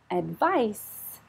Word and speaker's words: advice: do this advise advise advice soft as sound advice is the noun advice I need some